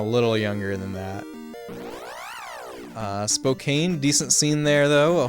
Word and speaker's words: Spokane: how it is pronounced Spokane it's not Spokane like a can of soda or pop okay